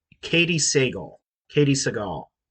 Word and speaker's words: Sagal: Katie Sagal. How do you spell it?